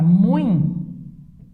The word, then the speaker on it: muito: E aí temos a palavra muito, que é um ditongo nasal.